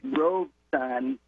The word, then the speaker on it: Robeson: and thank you for making a point of pronouncing paul leroy rogue son yes exactly with the two syllables because that's the first